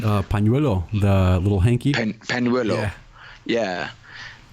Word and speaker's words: pañuelo: The pañuelo. Yeah, that's good. With a P, pañuelo.